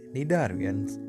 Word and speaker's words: cnidarians: here is a Darwin's when pronouncing the word cnidarians letter C is silent cnidarians are deeply plastic organisms